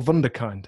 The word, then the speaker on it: Wunderkind: Is it Wunderkind or Wunderkind? I feel like it should be. I think there's a lot of debate about how to pronounce it in the company. I say Wunderkind, but Wunderkind. It's whatever you want it to be.